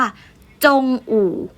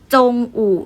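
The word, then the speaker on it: 中午: ยัง ไง นะ คะ ก็ จะ อ่าน ออก เสียง ว่า จง อู่ จง อู่ นะ คะ มั่น หมาย ถึง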